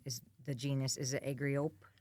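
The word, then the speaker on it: Argiope: agriop argapy argapy that's how you pronounce it okay or argapy or I'm not too fussy but a r g i o p e is how the spelling is and it's that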